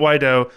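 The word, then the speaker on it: Guaidó: the administration of the president how do you pronounce his name again Juan why do we have president why dough and cut off illegitimate Maduro regime so Maduro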